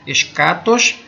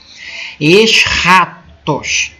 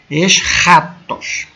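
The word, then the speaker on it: ἔσχατος: consegue pronunciar aí né é o som de um R meio um R meio gutural tipo o J do espanhol ex ratos ex ratos tá ex ratos mais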